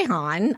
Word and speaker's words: Hanh: How would you pronounce it? Yeah. So, I go by Han.